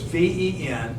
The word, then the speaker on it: Ventigra: Could you spell that? Oh, Vintegra is Ventigra. Vintegra. It comes from this BASF company, which they're really the leaders in all that kind of stuff. VENTI. Ventigra.